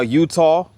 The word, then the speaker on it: Eutaw: Now, Utah, pronounced similarly to the state of Utah, is a sea is a city in Green County, and it's also the seat of Green County.